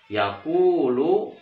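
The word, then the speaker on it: يقول: Jadi sekali lagi, yakulu, ku-nya dibaca panjang. Kenapa dibaca panjang? Namanya mad asli. Kenapa namanya mad asli? Karena dibacanya panjang. Kenapa dibaca panjang? Karena ada wawu sukun, ini wawu sukun, dan huruf sebelumnya berharakat dhammah. Makanya ku-nya dibaca panjang. Yakulu.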